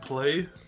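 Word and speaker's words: Plae: of these before and I think you pronounce it play p l a e and these are kids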